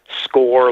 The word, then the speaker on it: Scourgie: of my Twitter's just score like a goal with a G because that's how my name is pronounced not how it's spelt I'm also on Facebook